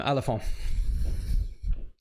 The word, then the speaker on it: Alafon: Said it right the first time. Alafon. Almost French sounding.